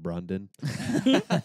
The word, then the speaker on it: Brandon: And so fucking Ben Stiller's character calls him Brandon. He's like, actually, no, it's pronounced Brundon.